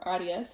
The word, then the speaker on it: Aries: The piece that I'm going to talk about today is a piece called Aries, or Aries in the German pronunciation, by the composer Karlheinz Stockhausen.